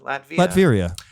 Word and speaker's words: Latveria: And so it looks like there's some mutants in Latveria. How do you say that? Latveria? Latveria.